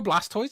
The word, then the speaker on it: Blastoise: blast host blast hose that's how it's spelled b-l-a-sc like tortoise oh man he's a turtle is it tortoise bro um have you not do you not know Blastoise it's got like water